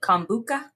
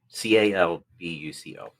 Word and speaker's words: Calbuco: So where exactly is, and you pronounced it Cambuca? Calbuco, Calbuco. Okay, so where exactly is that in comparison to Santiago?